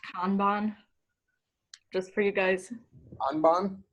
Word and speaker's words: Kanban: It's actually pronounced Kanban, just for you guys. Kanban? Potato. We call it Kanban at CW. So I have my excuse. In Portuguese, we say Kanban.